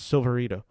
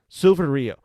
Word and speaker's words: Silverio: Cacho stars as Silverito. I mispronounced that name. Sorry, my writing's so small. Silverio.